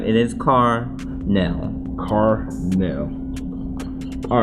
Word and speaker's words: Carnell: It's actually pronounced Carnell.